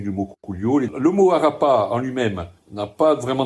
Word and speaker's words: Arapà: l'origine qui s'appelle Marakara avec l'accentuation sur la dernière syllabe. Chose qui se fait rarement encore peut-être en a tendance à laisser couler la dernière syllabe. Là qu'on on accentue bien c'est pas Arap c'est Arapa et Marakara qui sont